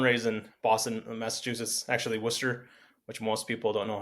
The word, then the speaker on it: Worcester: Actually, Worcester, which most people don't know how to pronounce, and they say Warester or Warchester, like Warchester Sire.